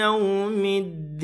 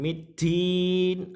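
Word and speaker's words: يوم الدين: Alif lam syamsiyah. Karena apa? Lamnya tidak terbaca di sini. Lamnya tidak terbaca dan dia masuk langsung pada huruf dal. Maliki yaumiddin. Bukan middin atau middin.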